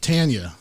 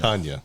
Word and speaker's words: Tanya: pronounced i appreciate it it is pronounced tanya yeah not not tonya tanya not to be confused